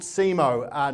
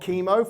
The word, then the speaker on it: SEMO: I run a company called SEMO, not chemo, for those of you who don't understand the English language and how C and E is pronounced together, but it is SEMO.